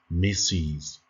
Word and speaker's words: Mrs.: وإلا كانت السيدة متزوجة غنقولو لها ميسيز كتكتب هذيك MRS وعندنا نقطة ولكن كنطقوها ميسيز.